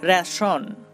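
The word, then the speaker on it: ration: রেশন, রেশন। দেখুন এখানে আমরা TI কে পাচ্ছি এবং তার উচ্চারণ হচ্ছে তালবশ র, রেশন।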